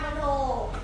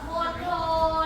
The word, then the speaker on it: มณโฑ: ท ท เียง ท มณโฑ และ มณฑล มณโฑ และ มณฑล ท เล่น กล ออก เสียง ทอ ท เล่น กล ออก